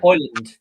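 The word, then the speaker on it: Højlund: I do rate um um how do you pronounce this one Rasmus hland yeah hland yeah I have been saying it right then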